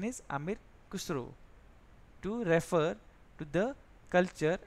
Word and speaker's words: Amir Khusro: The pronunciation is Amir Khusro, to refer to the culture and the people of the Indus River.